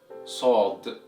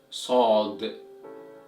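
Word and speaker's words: صاد: The 14th letter of Arabic is pronounced as Sod, Sod, Sod, Sod.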